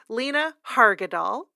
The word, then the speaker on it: Lena Hargadal: Vandy, Lena Hargadal. I bet you that's a hard G. Yeah. Lena Hargadal.